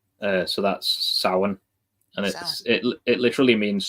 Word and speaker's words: Samhain: in Irish it's the MH is pronounced like the letter W. It's just how the Catholics wrote down the Irish language. Okay. So How's Samhain pronounced in Irish?